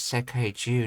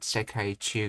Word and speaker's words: 世界中: Oh, it's pronounced as Sekai-ju, not Sekai-chu, because of the Dakutens being added to it.